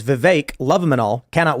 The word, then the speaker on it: Vivek: But we've had guests where we'll be like, it's Vivek, like cake.